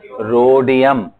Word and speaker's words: रोडियम: रोडियम। क्या बोलते हैं? रोडियम। H का थोड़ा सा प्रोनाउंसिएशन करना है, right, रोडियम, RH, रोडियम, okay, रोडियम।